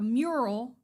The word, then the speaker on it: mural: We'll say it right, a mural, because even my hubby got on me for adding that for extra. saying Muriel.